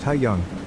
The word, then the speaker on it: Hayoung: Yesterday after school, Hayoung, pronounced Hayeong, came up to me